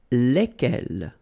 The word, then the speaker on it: lesquels: And it will give you the pronunciation lesquels, all right? So final S is not pronounced. So here, when you get this L-E-S, okay? It's just like the article, if you remember, les, okay? So it goes like lesquels, all right?